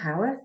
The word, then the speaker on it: Howarth: you do um yeah so my name's Howarth as you brilliantly introduced correct pronunciation um and I'm uh the author of